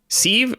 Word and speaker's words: Syv: Hello, Barnacle Brad, Dustin, the Destroyer, Muscle, and, the? Is that how they say it? Syv? Okay. Yeah, like a kitchen sieve.